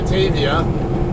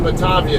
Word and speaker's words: Batavia: or uh batavia or some people will call it batavia i call it batavia though because it looks like a german or italian or whatever kind of word and that's how those vowels are pronounced in those in that language those languages but uh um i remember